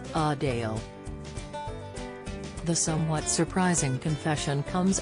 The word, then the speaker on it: Adele: to her as Adele Adele actually prefers a faint Link at the end of her name to align with her North London accent as she noted with a slight emphasis on the second syllable a Dale the somewhat surprising confession